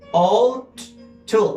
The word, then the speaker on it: ought: And in this case, O2, you are not going to pronounce U, G, H.